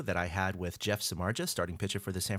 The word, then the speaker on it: Samardzija: with starting pitcher Jeff Samardzija. Is that how you pronounce it? You always see the debates on Twitter and stuff. Samardzija would be correct. Yeah, that would be correct. Absolutely.